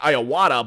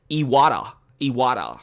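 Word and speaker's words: Iwata: keep want to say i keep on saying i owada but i found out yesterday that I've been pronouncing his name wrong its yada yada and I've been saying I owada or I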